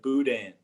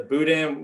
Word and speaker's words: boudin: pronounce it uh well we pronounce it a little bit more like cajun french i guess like boudin yeah the boudin we you was that